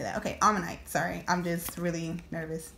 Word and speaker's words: Omanyte: Okay, Omanyte.